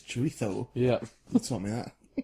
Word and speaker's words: chorizo: It's like chorizo, people say, don't they? But it's chorizo.